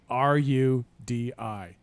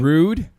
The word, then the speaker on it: Rudi: His name is spelled R-U-D-I. You would pronounce that R-U-D-I. Mm-hmm. Rude. No, Rudi, right?